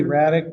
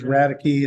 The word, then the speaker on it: Raddick: And so the next matter would be Bo, it's really Raddick, but it appears as Raddicky. It's a misspell.